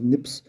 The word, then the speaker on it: SNPs: single php's dna differences single nucleotides polymorphism snps pronounced as nips have been identified in humans their number may